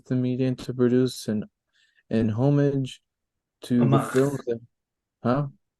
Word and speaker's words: homage: I began to wonder if Cameron was using Avatar as the medium to produce an homage to the films that, huh? You have to say it like you do in France.